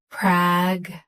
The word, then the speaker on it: pragmatic: Stress prag. Keep ma light, end with t. Pragmatic.